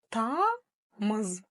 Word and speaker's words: тамыз: Тамыз. Снова два слога, ничего сложного. Буква «ы» опять-таки же не читается. Ну и в конце звучит буква «з». Ее не надо оглушать, ведь в казахском языке еще одно из самых главных правил — как пишется, так и читается.